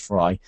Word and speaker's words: Frey: y okay so it's spelled like Frey e y but it's pronounced fry David fry has something